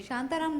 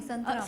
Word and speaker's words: संतराम: शांताराम नहीं है, संतराम।